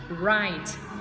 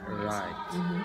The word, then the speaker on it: write: Write. Nhớ nhá. Đây là có chữ V kép ở đầu, nhưng mà mình đây sẽ là âm câm, mình đọc là âm R chứ.